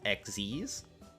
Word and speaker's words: Xyz: see uh a dark xyz monster this is i realize now someone has told me that this is pronounced xz's uh a dark xz's